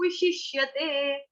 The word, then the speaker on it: विशिष्यते: ठीक है, श्रेयो हि ज्ञानम अभ्यासाज ज्ञानाध्यानं विशिष्यते, विशिष्यते। विशिष्यते का उच्चारण आप लोगों को ऑलरेडी पता है, इससे पहले वाले जो श्लोक थे उसमें भी देखा था हमने, निवसिष्यसि।